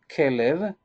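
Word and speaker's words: כלב: In Hebrew, the name of a dog is Kelev. This is the way that we pronounce it. Kelev, that it means Kelev, as a heart.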